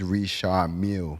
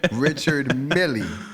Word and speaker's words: Richard Mille: We know the $1 million watch is Richard Mille. But what we gonna say? Richard Millie.